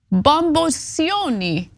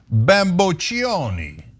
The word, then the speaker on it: bamboccioni: not even sure, but I think it's actually pronounced Bamboccioni, okay? When the lawsuit hits your face like a pizza pie. Okay. Oh yeah, the 2 C's does the ch sound. Ch, yeah. One C is the s.